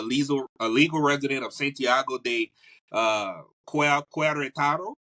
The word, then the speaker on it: Querétaro: All right, so Asha is an expat, and she's also a legal resident of Santiago de Querétaro, right? Querétaro. Querétaro.